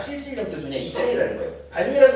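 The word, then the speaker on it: 밭이랑: 음마가 일어나요 안 일어나요 어떻게 발음해요 반니랑이라고 하지 이걸 바치랑 이이라고 발음 안 해요 내 말 이해하겠어요 그래서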